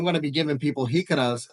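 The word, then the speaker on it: jícara: A jacara? Is that how you say it? Jicara. Jicara. Jicara.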